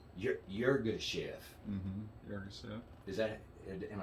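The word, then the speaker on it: Yirgacheffe: Yurga Chef.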